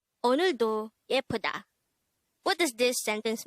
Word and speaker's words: 오늘도: 오늘도. 오늘도. This is pronounced as a three-syllable word. The first syllable is o, the second syllable is n, the third syllable is do.